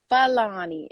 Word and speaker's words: Falani: i wanted to say my own name is pronounced fulani and i fake feiloni